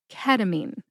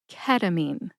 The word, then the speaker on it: ketamine: Emphasize that first syllable. K. Listen to the emphasis when I say it again. Ketamine. Ketamine.